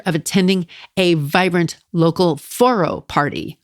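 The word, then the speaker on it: Forró: I had the pleasure of attending a vibrant local foro party. Foro is spelled Forro with apostrophe.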